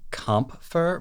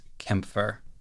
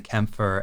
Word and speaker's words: Kämpfer: It's spelled with an A with umlauts over it, so it looks like it should be Kampfer, but I'm pretty sure the actual pronunciation is Kämpfer.